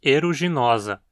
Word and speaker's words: aeruginosa: Já no epíteto temos eruginosa, que tem o sufixo osus, osa, formador de adjetivos e que sempre tem um o longo, então sempre gera paroxítonas. Eruginosa significa com cor de